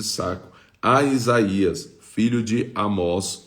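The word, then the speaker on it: Amoz: né ou de amos eu acho que esse pai de Isaías aqui a pronúncia aqui em portug transliterada seria amos né porque não tem acento como amó e é com z no final a Isaías filho de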